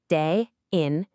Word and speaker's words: 대인: The second character is this one pronounced in and it simply means person or people. So you put them together day in and you get the beautifully direct title waiting for a person.